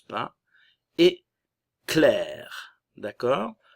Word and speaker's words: Claire: Et clair, d'accord? Le A et le I vont se prononcer comme un E espagnol, clair.